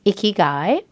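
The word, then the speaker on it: ikigai: You and I talked about a word that is a Japanese word and the word is icky guy and it is spelled I K I G A I for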